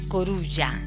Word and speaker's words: coruja: rompe la norma porque se escribe igual pero se pronuncia un poco diferente se pronuncia corulla coruña algo así estar